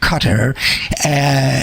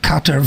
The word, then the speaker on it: Qatar: He said he attacked Qatar for its hundreds of millions of dollars, quote unquote, supporting quote unquote radical Islamic terrorism. A quote from the tape: "We've always pronounced it Qatar. It's Qatar they prefer.